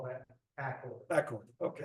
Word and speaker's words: Accord: is aord and um I I pronounce it aord because I heard several people say that but I've been told it's Accord so I guess we all have to be in accord it's Accord okay do you know the